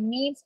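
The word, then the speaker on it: mesne: it it is called means profit you might have come across m-e-s-n-e profit it's pronounced as means profit but it is so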